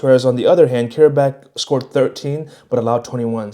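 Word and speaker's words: Qarabağ: First game is Newcastle versus Karabakh, is how you say it.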